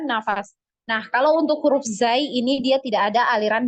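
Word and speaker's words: ز: adalah huruf Zai ya Zai jadi sama ya pelafalannya seperti huruf z ya di Indonesia ya Zai gitu nah ee huruf Zai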